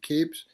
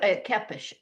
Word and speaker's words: Kepes: I hope I pronounced that last name right Keeps. Uh Jacqueline. Yeah, they usually go with Keepish, I think.